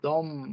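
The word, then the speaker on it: dem: concerns the third person it is pronounced as dom dom both i get always this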